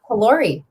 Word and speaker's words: Callori: Callori. You said it right. Yes. Like calorie, but in French.